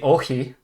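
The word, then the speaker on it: όχι: say no in French I can say okie that's in Greek ah or oh he was not like a hard it's not like a hard uh CH sound it's like the kai it's a bit softer um forgot how to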